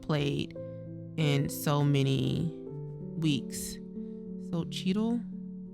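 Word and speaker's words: Xochitl: Sochitl. It is Sochil.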